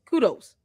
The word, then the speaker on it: kudos: The word is kudos. Kudos. Kudos. You got to break it down. It's two syllables.